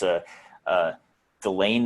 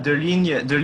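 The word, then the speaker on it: Deligne: with primarily right here is I also can't pronounce it because he's French, but it's Delane Illusi, I think is how you say it. It's a De ligne and Illusi.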